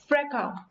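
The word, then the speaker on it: fracas: इसके अलावा रैंगल, रैंगल, feud, feud, फ्रैका, FRACA, S ऐड होता है यहाँ पे, लेकिन हम इसको प्रोनाउंस इसी तरह से करते हैं फ्रैका।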